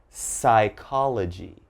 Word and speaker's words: psychology: We start with pneumonia, psalm, psychology, psychiatrist, psychic, and psycho. So all right, if you ever see these words in something you're reading, just remember there's a silent P when the word begins with P and is followed by a consonant.